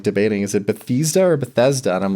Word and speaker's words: Bethesda: And I know Bethesda um they released uh some people say Bethesda, but I always say Bethesda. Well, I pronounce it like the city that they're founded from.